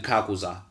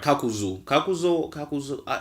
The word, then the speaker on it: Kakuzu: Then we have the guy with the 5 hearts, our main man Kakuza, right? I'm saying that right. Kakuzu.